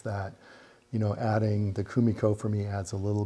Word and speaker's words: Kumiko: I always want to put the accent on, but there's no accent on any of those syllables, right?